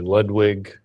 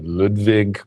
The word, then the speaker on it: Ludwig: say she was mary ludwig german pronunciation would be ludwig but this is the american pronunciation that needs a capital l as a name born in october 1754.